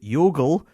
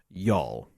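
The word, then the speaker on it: Youghal: may be and yes I will no longer pronounce it as the yogul pipe band I will now call it y'all there you are so I don't know though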